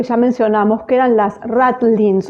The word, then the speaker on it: ratlines: Se pronuncian Ratlin porque hacen referencia a las sogas que estaban